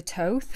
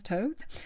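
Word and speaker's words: Thoth: Lady Frida Harris the Toth the infamous Toth or Toth or taught Tara nerds argue about the pronunciation toadstex have the standard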